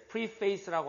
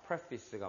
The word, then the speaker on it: preface: 네, preface라고 하시면 안 됩니다. preface가 맞는 발음입니다.